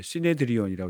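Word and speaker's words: συνέδριον: 그리고 산헤드린 그 헬러 발음을 하면 시네드리온이라고 하는데 뜻이 함께 앉다.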